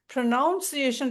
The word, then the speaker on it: pronunciation: ப்ரொனன்சியேஷன், அதாவது ப்ரொனவுன்ஸ் அப்படிங்கிற நீங்க ஸ்பெல்லிங்கை பார்த்தீங்கன்னா NOU வராது, ப்ரொனன்சியேஷன் தான். ஆனால் நம்ம சொல்லும் போது ப்ரொனன்சியேஷன் சொல்லலாம். ப்ரொனவுன்சியேஷன் ரெண்டுமே கரெக்ட் தான்.